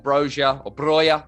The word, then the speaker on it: Broja: Romeu's missing, Salisu missing, Adams, Armstrong, Broja.